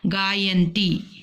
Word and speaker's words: गायन्ती: तो ये ग आ य आ ना ता ई, तो ये इसका मिला करके गायन्ती।